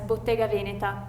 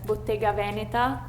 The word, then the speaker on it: Bottega Veneta: I'm from North Italy, so I pronounce this as Bottega Veneta. Even though some people might pronounce it as Bottega Veneta, but not me.